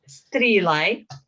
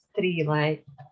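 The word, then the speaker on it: Sruighlea: Okay, so next one is Strelai. Strelai. Although there is no T, but quite often when we have S and R together in Gaelic, there is a little T in pronunciation.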